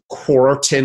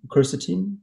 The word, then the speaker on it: quercetin: you know vitamin d possibly vitamin c uh quartin i believe is another one that we're hearing